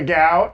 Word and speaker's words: Gao: She-Hulk head writer Jessica Gao. Is that how we're pronouncing her last name?